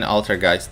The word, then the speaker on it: Altergeist: It's pronounced like Geist. Boys, you're messing me up. Alright, I'm gonna keep saying Altergeist, I guess.